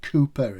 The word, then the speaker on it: Cowper: Worlds Apart by Richard Cowper. I call him Cowper. Richard Cooper is the real pronunciation. I call him Cowper so you can get the spelling right.